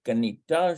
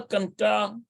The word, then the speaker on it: קנתה: So why is it, I bet you it's Kanta, Kanita. I bet you it's Kanta. אמא קנתה שווארמה. Yeah, Ima Kanta shawarma.